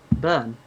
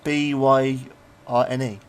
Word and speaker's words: Byrne: Burn. Oh, is that how you pronounce it? Byrne.